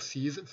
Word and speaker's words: Scize: Voilà ce qu'écrivait Pierre Cize. Pierre Cize, ça s'écrit Scize, en mars 1936.